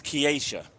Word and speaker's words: Kiesha: I always say Keisha because I knew a Keisha. I think it's Kiesha. It's Kiesha. And I always pronounce it Keisha because I knew a Keisha from here.